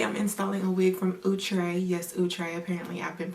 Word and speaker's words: Outre: viewing welcome today I'm installing a wig from utre yes utre apparently I've been pronouncing the name wrong I've heard it from a wig page that it is now utre and not I'll try as I've been saying for years so if